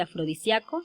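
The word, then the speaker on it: afrodisiaco: respuesta es fácil porque estas palabras tienen dos posibles pronunciaciones correctas y aceptadas por la rai y por tanto se pueden escribir de dos maneras como es en el caso de afrodisíaco sin tilde y afrodisíaco con tilde muchas gracias jóvenes estoy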